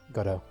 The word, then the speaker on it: Godot: Did I pronounce that right? Yeah. Is it Godot? Godot.